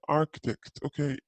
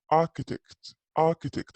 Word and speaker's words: architect: جيورج هنا is an architect. مهندس معماري. في البريتش accent ما ينطقوا الآر، هنا يقولوا architect على طول، ما في آر، يكنسلوها.